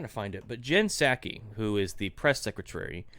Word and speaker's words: Psaki: But Jen Psaki, how do you pronounce her last name? Psaki. Okay. Like the drink, sake.